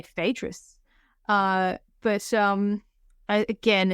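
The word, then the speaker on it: Phaedrus: I think English speakers are supposed to say fadis uh but um again it's a one of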